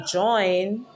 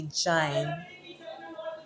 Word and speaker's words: jine: So Jamaicans will not say join when they speak in Patois, they say jine. Jine. Jine then would be spelled Jine.